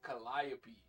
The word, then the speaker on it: Calliope: the word Calliope, them niggas say Calliope. And like, I don't know if that's just like a New Orleans thing, but like, I don't want to tell a whole city of people that they pronouncing a word wrong, bruh. But in Greek mythology, all I've known is that that word has been pronounced Calliope.